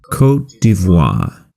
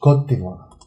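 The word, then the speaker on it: Côte d'Ivoire: How do you pronounce that? Cote d'Ivoire. Cote d'Ivoire. Cote d'Ivoire. Cote d'Ivoire. It's French. Cote d'Ivoire.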